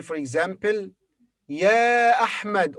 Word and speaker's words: ي: yeah has two pronunciations the first is as in yes yes the second is ee as in cheese so it's considered a